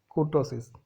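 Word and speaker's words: kurtosis: अब नेक्स्ट जो टर्म है वो है कुर्टोसिस, या उसको बोलना चाहते हो तो कर्टोसिस भी बोल सकते हैं। ओके, आप जैसे प्रोनाउंस करना चाहते हो आप कर सकते हो।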